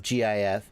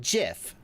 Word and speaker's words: GIF: way but the original inventor of gif said jif so i'm right oh no this other guy said it was gif okay you're right too no all you are too young to remember the pronunciation switch in the early 90s maybe that's why because i i got into the internet before the early 90s kids the oxford dictionary says it can be said both ways why are we